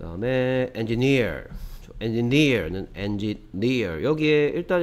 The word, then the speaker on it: engineer: 여기에 일단 engineer란 단어는 강세가 뒤쪽에 있다는 거. 여기에 이, 그러니까 삼음절, 여기에 이음절, 이음절, 삼음절인데 마지막 세 번째 삼음절에 강세가 있다는 거 주의해 주시기 바랍니다. engineer 이런 식으로 발음한다는 거.